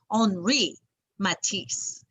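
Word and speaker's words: Henri Matisse: he spoke french so you sometimes have to say his name like with the french accent can you say that you say his name like this and when you're in france on re matisse can you say that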